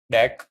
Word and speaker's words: deque: So DQ, pronounced Deque, okay, stands for double-ended queue, a collection that supports insertion and removal at both ends.